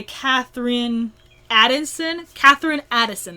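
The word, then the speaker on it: Katherine Addison: that is The Angel of the Crows by Catherine Addison, that's how you pronounce her name.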